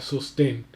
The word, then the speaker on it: sostén: que, por ejemplo, acá sostén, pues es una palabra, en este caso va a ser una palabra aguda que tiene, porque tiene acento en la última sílaba y como termina en